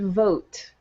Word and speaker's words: vote: Or the word vote. Okay, again, the word vote ends in E, but the E modifies the O sound.